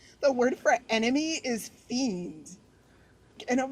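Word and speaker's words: fjende: The word for enemy is fiend. And I'm like, fiend? I love that. I love that. That's the word for enemy. that's how you said like it's spelled differently but that's how you pronounce it.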